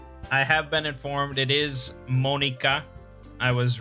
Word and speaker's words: Monika: I have been informed it is Monika. I was right about that, I guess. But it's not Natsuki. It's pronounced more like Natsuki.